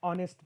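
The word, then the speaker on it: honest: हा ओ ने शुरू झाला होता ओ एंड ऑनेस्ट मैन नॉट नेस्ट even though spelling इसलिए तो मैंने यहां पर लिखा है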